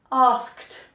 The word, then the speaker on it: asked: So some of these ED endings have a D sound and some have a T sound at the end. So played, D, played. Watched, T, watched. Asked, T. Carried, D, and talked, T, T. So some have a D and some have a T ending, but they don't have an ed.